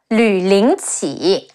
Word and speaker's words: Lü Lingqi: Oh, and on Lü Bu's side, we have Lü Ling Qi, Le Yu Lü, Le Ying Ling, Qi Yi Qi, Lü Lingqi is a fictional name